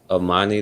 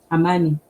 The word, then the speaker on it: amani: Amani, that's how you say it. Amani.